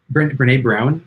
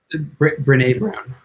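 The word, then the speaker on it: Brené: like um i i have been i've like renee brown is is one person um i think like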